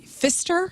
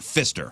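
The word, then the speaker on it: Pfister: a haunted I'm sorry Fister p f i s t r I'm assuming that p is silent Fister Fister the Fister hotel in Milwaukee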